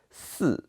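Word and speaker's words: 四: So the number you should avoid is number 4, because in Chinese, number 4 pronounced 4, and which is very similar to the pronunciation of death, which is 死.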